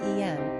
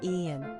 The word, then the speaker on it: Ean: in fact we think manx people pronouncing as the en whereas Americans would say Ian regardless how he found